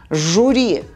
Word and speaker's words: жюри: Пишется Ю, лекин У дебайтшкирах. Жюри.